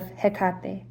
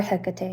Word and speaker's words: Hecate: And we did get that little inclination of Hekate or Hecate, however you prefer to say her name.